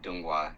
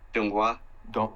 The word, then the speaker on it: Donghua: So Chinese anime is called Donghua, and Korean anime, I forget what it's called.